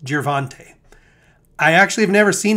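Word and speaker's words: Gervonta: left of your screen boxing tomorrow night is jervante davis pronounced girvante i actually have never seen him before but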